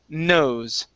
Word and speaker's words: knows: here is nose okay this k is silent so instead of knows it's nose nose great all right nice